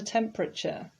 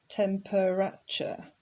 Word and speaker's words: temperature: it looks like it's tempuracha but it's not it actually only has three syllables temperature temperature is a